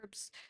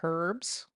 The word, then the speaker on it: herbs: herbs. That comes from cloves. Herbs, not herbs. The Herbs. Brits say herbs. It's herbs. The H is silent.